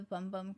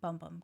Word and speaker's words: Bum Bum: So I do love the Bum Bum Cream.